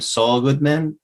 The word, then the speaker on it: Saul Goodman: It's a name, Saul Goodman, but it's pronounced in the show. It's all good, man.